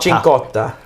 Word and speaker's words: Cincotta: Cincotta. Chincotta. Like ricotta Like the cheese. No, that's Kinotto. Kinotto. That's Kinotto. CH is a K. CI is a Ch.